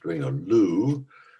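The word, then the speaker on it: Dwingeloo: yes yes um thanks in english it's sometimes pronounced during a lou and the press release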